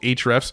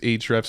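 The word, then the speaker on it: Ahrefs: we've canceled all others yeah that's true and it's spelled a h r FS it's called H refs and it is an amazing SEO tool that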